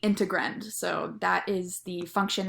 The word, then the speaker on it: integrand: understand the word is it's like dividend if that helps you at all but it's called the integrand so that is the